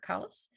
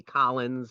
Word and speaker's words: Kallus: more than once but most people give me collins or or callus and as i tell